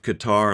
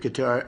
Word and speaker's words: Qatar: careful to point out the correct pronunciation of Qar like guitar, lest you offend a local with the balkcanized American version.